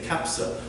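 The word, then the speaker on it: kabsa: It's chicken and rice, but they say kapsa. The other thing about the pronunciation, the Saudis say per, but they spell it with the letter B, which is, in English, pronounced b.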